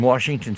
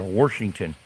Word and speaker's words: Washington: Well, what's funny is people in uh in Washington state they pronounce some people pronounce it with an R Washington.